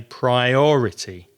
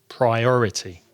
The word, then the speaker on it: priority: of the syllables it has four syllables priority and it's the second syllable that's strong so we say priority priority another very important thing